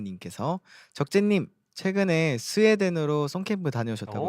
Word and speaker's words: 적재: 제가 이제 가서 제 이름을 적재로 소개하고 성이 정이라고 하니까 그 J 발음을 묵음하더라고요.